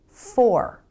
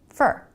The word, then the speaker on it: for: for example this word for fully pronounced it's for but most of the time in a sentence americans pronounce it fer really fast with the reduced vowel fer fer so if